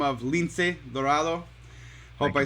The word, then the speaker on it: Lince Dorado: We have a huge star, huge luchador, wrestler, if you know him, by the name of Lince Dorado.